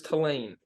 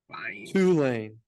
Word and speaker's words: Tulane: game for sure but what is talene two lane there you go I apologize for pronouncing